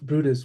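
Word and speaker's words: Bryde's: A catchall species scientists believe others belong to like the misn misnamed Omura's whale or the gulf Bruda's whale pronounced Bruda but spelled br yde which makes me here bride.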